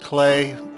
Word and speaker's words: Klei: uh Pacific time is my understanding I'll put a link to and it's basically just clay that's how you pronounce clly anyway I'll put a